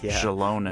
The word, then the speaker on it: Xilonen: aot Shalon okay now I know how to pronounce her right Shalon we should probably start with her profession of